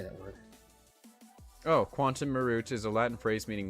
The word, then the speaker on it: quantum meruit: unfair business practices money had and received quantum Marit Marit Marit is that supposed to be I don't know